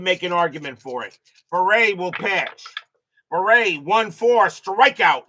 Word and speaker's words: Bere: Pronounced beret. Thank you there Davo9 like raspberry beret beret 53 against the lefty